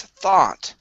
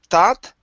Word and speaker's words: thought: last word here is thought now uh your vowel sound was really good and your ending was very good let's practice the th sound okay so instead of tat it's thought thought good good one